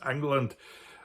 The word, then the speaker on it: England: very name of England, which some people even today pronounce England, bear testament to the Angles and Saxons who settled there in the 5th and 6th centuries.